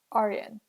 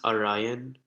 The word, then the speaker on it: Aryan: And then Aryan. Is that how you pronounce your name? It's pronounced Orion.